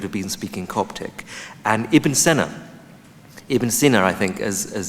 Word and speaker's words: Ibn Sina: And Ibn Sina, I think, as it's properly pronounced, was born in Uzbekistan, spoke in Persian,